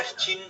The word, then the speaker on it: Qing: ये वाली चिन डायनेस्टी का नाम QING है, उसमें सिर्फ QIN था, प्रोनाउंसिएशन सेम है।